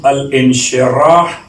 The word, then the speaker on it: الانشراح: ہے سورہ مبارکہ الشرح، اس کا ایک انداز تلفظ الشرح، ایک انداز تلفظ الانشراح، ایک انداز تلفظ ہے نشرح.